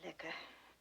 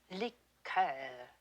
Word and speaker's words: liqueur: i don't care for liquor when referring to a cordial we use the french pronunciation liqueur miss tinsley i shouldn't